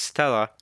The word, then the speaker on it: Stella: Stella, written as main true body but pronounced as Stella, which means celestial star in Latin.